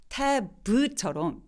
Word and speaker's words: tab: 근데 tab처럼 B처럼 이렇게 유성음으로 끝나는, 울림이 있는, 성대가 울리는 소리들을 유성음이라고 하거든요. 이 tab처럼 저렇게 유성음으로 끝나는 단어들은 저 모음 소리, 에 소리를 조금 더 길게 발음해요.